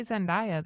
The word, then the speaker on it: Zendaya: It's Zendaya, but Zendaya would fit better with I feel like I hear people say Zendaya though a lot.